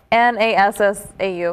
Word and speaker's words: Nassau: which Nassau, is spelled N-A-S-S-A-U. It's supposed to be Nassau, like vanilla.